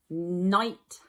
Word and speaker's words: night: one was night night night has a long I sound in it it is i g h uh Sunshine is next